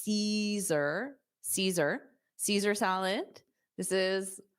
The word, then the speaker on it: Caesar: All right, so we have number one is Caesar. Caesar. So notice that A at the beginning isn't pronounced. So it's Caesar, Caesar, Caesar salad.